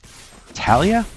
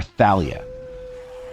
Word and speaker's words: Thalia: Because it looks like it should say Thalia, and I figured that's how most people who speak English would pronounce it. But I feel like it's supposed to be Thalia.